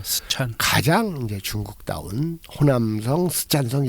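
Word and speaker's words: 四川: 그리고 이제 3차의 노정은 사천성, 스촨성이죠. 네, 스촨.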